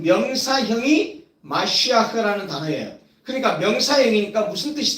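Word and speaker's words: מָשִׁיחַ: 마시아흐라는 단어입니다. 마시아흐. 발음이 메시아와 비슷하죠? 예.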